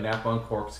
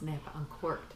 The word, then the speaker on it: Napa Uncorked: Now, and from there, the idea of Napa and Cork's Candles was made. You said our name wrong. Napa and Cork Candles? It's Napa Uncorked, not Napa and Cork's.